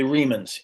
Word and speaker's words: Remans: The Remans, I think, are the the Remans. Yes. Yeah. I didn't want to mispronounce that.